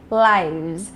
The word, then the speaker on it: lives: Mas quando a gente traz para o plural, nós temos lives, lives, com V e som de Z no final.